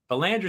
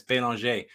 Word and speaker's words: Belanger: so I'm uh Belanger Belanger is how I pronounce it unless I'm north of the Border or over in France and then it's been longer I know it's confusing